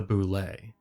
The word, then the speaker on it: bulette: today we're looking at the boule yes that's actually how you say it it surprised me too